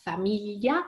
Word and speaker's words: famiglia: And it's very, very hard to pronounce. It takes a while to do that. You have to smile and push your tongue on your upper molar like you are scrubbing some peanut butter from them, and again smiling and say familia.